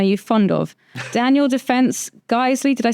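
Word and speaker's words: Geissele: Daniel Defense, Geisley, did I say it right?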